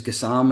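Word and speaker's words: Gassama: Um I think Gasama is going to be or Gam I think is pronounced um I think he's a steal. Got to ask Tom Miller about the pronunciation. Well, well this guy Crocker Ian Crocker said in the St. M game that it was Gassam and he had asked the player and the A was silent.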